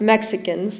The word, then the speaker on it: Mexica: Chicano has its roots in the word Mexicano. You all know who Mexicanos were. No, not Mexicans, like the way it's written here.